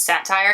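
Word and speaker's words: Cettire: it on sale at what i believe is pronounced as satire it's c-e-t-t-i-r-e got on sale love it uh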